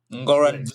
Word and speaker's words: Ngoran Blaise: And he's so new that I'm still learning how to pronounce his name. It's Ngoran Ngoran Blaise.